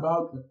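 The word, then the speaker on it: Bouke: You publicly said that you and your partner, and forgive me if I'm butchering the pronunciation here, Bauke. I'm totally off. Okay. Bauke. Yeah, Bauke. So Bauke is spelled... Don't feel ashamed. It's a very Dutch thing.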